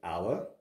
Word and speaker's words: hour: of this word but I still say an hour because when I say our I don't use the H therefore the H is silent and I still use